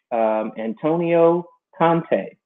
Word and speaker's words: Antonio Conte: My homeboy Antonio, big Chelsea fighting club fan, huge fan of Chelsea FC, and they got rid of their coach, Antonio Conte. Is that how you pronounce that?